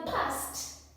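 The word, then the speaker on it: passed: Then in the past, pass will become past. Still we are hearing d making that sound, but we still see, we write ed.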